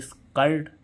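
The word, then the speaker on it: skirt: के बाद भी व्यंजन तो इसको पढ़ेंगे स्कर्ट है ना आ साउंड आ रहा है जैसे इसमें जी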